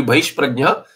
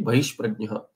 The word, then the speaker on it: बहिष्प्रज्ञः: So, no, this is actually, it will be bahishprajnah, the visarga preceded by pakara, and fakara has a different pronunciation, but here it will be bahishprajnah.